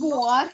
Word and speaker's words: Boğar: Neyi boğar? Bak arkadaşlar bu böyle okunur.